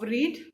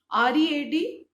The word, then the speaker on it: read: I hope all of you remember that the spelling of read remains the same in the past form, but the pronunciation changes. R-E-A-D is pronounced read in